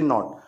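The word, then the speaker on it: knee: बाद में आता है, कौन पहले आता है, के बाद में क्या आता है, एन, तो के साइलेंट हो जाता है, इसको कनी नहीं पढ़ते, केवल क्या पढ़ते, नी, एन डबल ई नी, इसको कनाइट नहीं पढ़ते,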